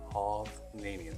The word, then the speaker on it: Hovnanian: What is the proper way to say that? It is Kehavranium. Hovnanian. Okay, I think I got it now. Yeah, or you could almost look at like Hovnanian. In some ways, people will pronounce it. Okay. We like to say Khov for short.